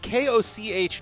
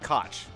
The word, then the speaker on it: Koch: I am aware that Koch is German for cook or chef, which is a word, might not be the word that it is an Austrian German company.